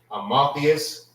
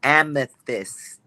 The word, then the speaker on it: amethyst: How you pronounce this? Is it Amotheus? Salakia, sir. It's amethyst.